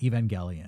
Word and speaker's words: Evangelion: I think it's pronounced Evangelion.